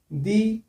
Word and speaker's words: the: বলতে পারো দা ইউনিয়ন ভুল উচ্চারণ পেন ভুল উচ্চারণ এটা কি হবে দি union দি orange দি university দা পেন দা বয় দা